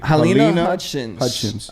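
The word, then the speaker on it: Halyna Hutchins: Helena Hutchins.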